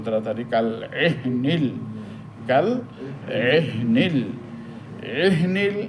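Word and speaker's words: العهن: কাল এহনিল, কাল এহনিল, এহনিল এখানে হাটা সাকিন, এই হা উচ্চারণ করার সময় একটু ধাক্কা লাগবে।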